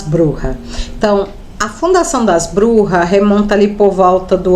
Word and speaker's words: brujas: as burras né ou Bruxas né na verdade algumas pessoas Serra pronúncia forma correta é burras porque elas são de origem espanhola E hoje nós vamos